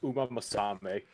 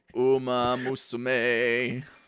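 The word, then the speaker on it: Uma Musume: I'm already dealing with Uma Masame. Uma Musame.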